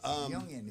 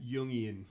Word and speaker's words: Jungian: Jungian. Is that how you pronounce that? Say it again. Jungian.